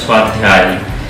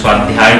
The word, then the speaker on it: স্বাধ্যায়: এটা উচ্চারণটার জন্য, হ্যাঁ অ্যাকচুয়াল উচ্চারণ যেটা হয় এর স্বাধ্যায়, কিন্তু যেহেতু আমাদের বাংলা উচ্চারণে স্বাধ্যায় তো হয়, সবাই স্বাধ্যায় বলতে অভ্যস্ত, তাও অনেকের অসুবিধা।